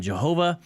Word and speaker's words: Jehovah: Divine name because again Jehovah is a Germanic pronunciation of the transliterated Latin tetragrammaton so it's it's wrong